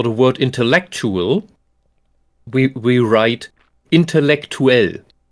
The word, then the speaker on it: intellektuell: word intellectual, we write intellektuell. Now you have this UE at the end where both of these vowels are pronounced distinctly, like in English, intellectual. Like the UA in English, we have UE.